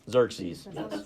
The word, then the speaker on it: Xerxes: As we read Esther, this first chapter, King Xerxes made a habit of throwing lavish parties and celebrations.